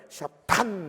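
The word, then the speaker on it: שטן: 근데 그 사탄 타 히브리어의 테트인데요, 요거는 그냥 사탄 우리말의 티읕 정도가 아닙니다. 요거요, 혀 끝에다가 힘을 팍 줘가지고 침을 튀게 해야 됩니다. 그래서 요거 사탄을 발음하면요, 샤탄 이렇게 됩니다.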